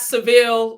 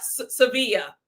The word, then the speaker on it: Sevilla: not Seville, like us Americans say it, right? I might just say Seville. I don't, listen, y'all, just don't judge me if I say Seville throughout the recap and not Sevilla.